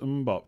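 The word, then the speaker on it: Mbeumo: It's pronounced Mbop.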